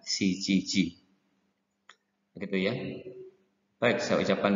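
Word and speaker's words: 七時: Kemudian yang 7, ini mereka orang Jepang tidak mengucapkan jam 7 itu nanaji, tetapi lebih umumnya menggunakan shichiji.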